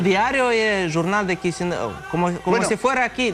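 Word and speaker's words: Chișinău: Bueno, la capital se llama Chisinau. Chisinau. Y el diario es el Jornal de Chisinau.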